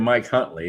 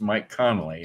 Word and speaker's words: Mike Connolly: You know, I mispronounced Mike's name. I called him Mike Huntley. It's Mike Connolly.